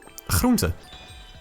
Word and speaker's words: groente: Groente.